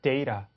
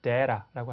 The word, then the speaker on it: data: 그 다음에 자료라고 할 때 data 혹은 data라고 하시면 됩니다.